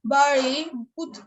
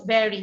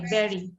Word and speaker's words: bury: বাড়ি, পুঁতে ফেলা, বাড়িড, বাড়িজ, বাড়িং। পারি না, এটা হচ্ছে ব্যারি, বিইউআরওয়াই, ব্যারি, এই উচ্চারণ হবে ব্যারি, ঠিক আছে?